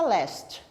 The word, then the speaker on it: last: diferente mas foi ó você tem l a s t pronúncia Leste ele é a ST pronúncia list é que last significa finalmente